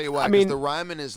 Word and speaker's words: Ryman: Alaska was most recently, I saw y'all did the Ryland. The Ryman? Ryland? Yeah. I'm sorry, I said it wrong. 3, 2, and 1. Yeah. And Edit. go. Yeah. Ryman Auditor.